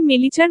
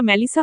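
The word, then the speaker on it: Melissa: আশপাশের পরিস্থিতি আর চোখে বুঝার চেষ্টা করে কিছুটা চিৎকার করে আদনান বলে, এই মেলিচার বাচ্চা। ওটা মেলিচা না ম্যালিসা হবে, মূর্খ কোথাকার।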